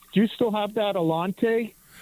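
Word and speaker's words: Allanté: it, you know, it's it's it's an 83 Alante with the um with the V8 Northstar engine.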